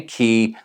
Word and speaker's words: Cay: Now, before you run to the comment section to correct my pronunciation, I know that some people say Cay, some say Key. Say it however you want.